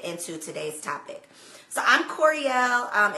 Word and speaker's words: Koereyelle: So I'm Koereyelle. It's much easier to pronounce than it looks. It's like L'Oreal, but with a K.